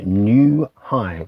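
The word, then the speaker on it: Gnu High: It's on the ECM record label and it's called New High with a silent G.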